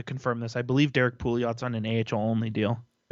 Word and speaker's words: Pouliot: up a spot for whether it's Merkley or Pulio. Who? I know I'm not pronouncing that right. Derek Pouliot? Oh, Pouliot.